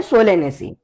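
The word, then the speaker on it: Solanaceae: बाकी इसकी प्रोनाउंसिएशन ऐसे होती है रोजे से, लेगुमिनी से एंड सोलेनेसी।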